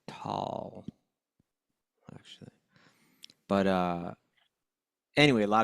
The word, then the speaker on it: Tolle: Tolle, I think, is how you No, pronounce it. it's tall, actually.